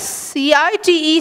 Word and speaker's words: cite: Now they are pronounced the same, whereas the spelling changes, right? So S-I-T-E, sight, means a piece of land. Whereas C-I-T-E, cite, means an illustration, a citation.